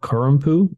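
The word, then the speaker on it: corrompu: obscure Mantra uh and their song is called kurumpu it's uh it's spelled c-o-r-r-o-m-p-u don't know what that means but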